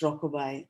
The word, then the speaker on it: Rockaby: These rhythm or the rhythm of the rebirth fantasies that you speak of are so beautifully illustrated by Rockaby, pronounced Rockabye, and the lullaby Rockabye Baby.